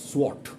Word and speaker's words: swot: assiduously of your examination very perseverantly that is SWOT s-w-o-t remember the spelling the pronunciation and the spelling spelling is s-w-o-t SWOT